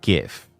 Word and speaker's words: GIF: Oh, yes, it's pronounced GIF.